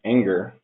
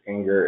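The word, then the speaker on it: angr: For symbolic execution, there's, I believe it's pronounced anger, which has been used against Tiano Core and EDK2.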